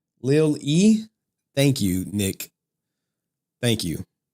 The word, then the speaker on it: Lilly: It's pronounced Evangeline Lilly. Lil E.